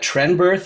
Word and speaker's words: Trenberth: joined with Tristan and is it Tren birth is that how you pronounce that yep trist fenur thanks